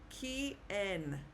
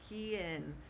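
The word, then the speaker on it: quién: This word, the qu sounds like K. Ken. Ken. Ken is how we pronounce the word.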